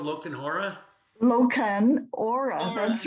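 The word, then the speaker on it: Lochan Ora: there really such a scotch called lokton hora loken aura that's right that's funny i'll have to look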